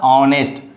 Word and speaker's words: honest: Don't say H honest, it's a honest.